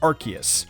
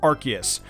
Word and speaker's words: Arceus: gonna say Fionna here's the most common one Arceus I know now it's pronounced Arceus I know over the years I have seen so many pissed-off people in my comment section saying it's pronounced Arceus I learned this one the hard way trust